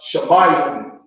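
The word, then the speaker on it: שמעון: This is pronounced Shemayim. Shemayim. Shemayim. Right? The tribe of Simeon is pronounced Shemayim.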